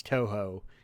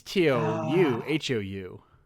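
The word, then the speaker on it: Touhou: I don't properly pronounce too if you don't know what too is uh it's tou hoou not uh to we're talking about the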